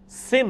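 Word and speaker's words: سِن: ہیں نا سن عیسوی، یہ لفظ سن نہیں ہوتا، سن ہوتا ہے، ٹھیک ہے۔ اردو لنگوسٹک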